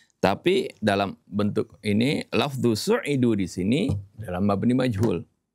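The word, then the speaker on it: سُعِدُوا: Barangkali dalam perbedaan ini ya, dalam perbedaan ungkapan kenapa kok bacanya su'idu bukan sa'idu seperti itu.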